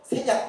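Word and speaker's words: 선양: 왜냐면 이쪽 만주로 올라가서 그래서 일로 들어가서 세냥 옛날에 여기를 평택이라고 불렀고요. 봉천이라고 불렀고 지금은 그러니까 중국 발음으로 세냥이고 보통 우리가 할 때 심양이라고 부르는 지역이에요.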